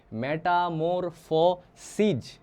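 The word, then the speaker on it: Metamorphoses: তার বইয়ের নাম কি মেটামোরফ সিজ এ উচ্চারণটা কি হবে সিজ নট সিস তাহলে এ পাবলিয়াস অবিডিয়াস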